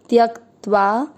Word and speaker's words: त्यक्त्वा: पहला चरण, त आधा य पूरा, य के साथ आधा का त्यक, आधे त के साथ वा, त्यक्त्वा।